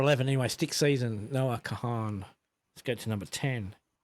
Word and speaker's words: Kahan: Khan. Noah Khan. Kahan.